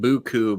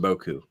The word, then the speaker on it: beaucoup: southern thing it's the the southern is saying buku because it's pronounced Boku Boku yeah right that's